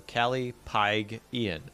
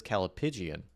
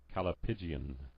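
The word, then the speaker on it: callipygian: Apparently it's a hard G, so Callie Pygian. Oh, I was like, right? Wait, hang on. I have a pronunciation right here. Pause music. Calipigian. Oh, shoot. He actually says Calipigian.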